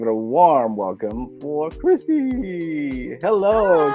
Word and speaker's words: Xtie: interesting artist name and it's not read the same way as it is spelled I'm wondering why you